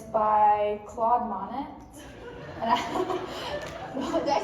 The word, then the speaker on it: Monet: called water lies and it's by by Claude Monet and did I say it wrong how do